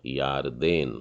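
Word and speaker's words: ירדן: तो इसको पढ़ेंगे हम लोग या र दे न, यारदेन। उच्चारण में हल्का सा थोड़ा सा फर्क है, यारदेन।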